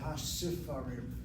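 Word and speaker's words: הספרים: That's why the reading should be hasifarim, not hasfarim.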